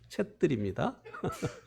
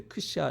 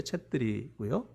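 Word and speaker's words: छेत्री: 근데 그거 우리가 발음 잘못하는 거예요. 챗들입니다. 그 네팔 그 앞에 나오는 단어가 이제 잘못해서 이제 크샤 이렇게 했는데 챗들이고요.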